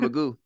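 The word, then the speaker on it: McGough: I'm going to go with Magoo. Is it M-A-G-O-O? M-C-G-O-U-G-H. I'm going to go Magoo. So we got it's basically spelled like Van Gogh.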